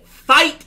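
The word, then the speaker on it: FITE: the Fight TV network, that's F-I-T-E pronounced, the Honor Club streaming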